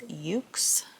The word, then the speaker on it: YOOX: Then there is Ukes. Reminds me of my cat, Yuki or Yukidama, but it's not spelled the same. It's YOOX.